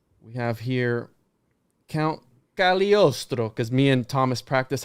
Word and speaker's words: Cagliostro: So Count Cagliostro, right? We have this That's right. guy The here. G is silent. The G is silent. Cagliostro.